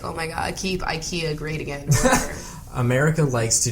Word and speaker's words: IKEA: but did you know the actual pronunciation of ikea is e kya and how do you